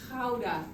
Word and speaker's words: Gouda: We pronounce it as Gouda Can you pronounce it?